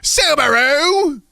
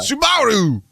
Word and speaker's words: Subaru: So Jared says, can you please pronounce Subaru the New Zealand way? Okay, here you go. Subaru! Did I get it? Did I get it? That's good. Yeah. Yeah? I think you got it. Yeah. Subaru!